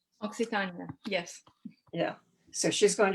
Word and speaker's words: Occitania: And she composes and sings the troubadour style songs and gives lectures on the culture of medieval, am I saying it right, Occitania. Occitania, yes.